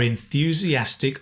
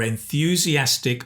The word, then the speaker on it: enthusiastic: Enthusiastic has the N-th sound.